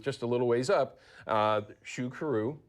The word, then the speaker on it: Xuqeru: had a booth just a little ways up, Xuqeru. Xuqeru, yeah.